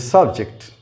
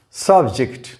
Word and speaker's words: subject: This is subject. Subject, not subject. The stress is on the first syllable.